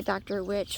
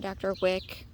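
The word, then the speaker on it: Dr Wiche: orange tomato plant um i think it's pronounced like a dr witch or a dr wick um it's spelled dr space w-i-c-h-e a fellow uh garden vlogger calls it a dr witchy so that's just automatically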